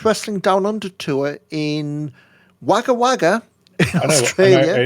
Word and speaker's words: Wagga Wagga: On an Impact Wrestling Down Under tour in Wagga Wagga, Australia. I know, it's pronounced Wagga Wagga. Wagga Wagga, I know that because I know somebody who used to live, who was from there.